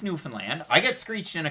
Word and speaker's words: Newfoundland: anybody else here we are but it's not newfoundland it's newfoundland i got screeched in a couple of months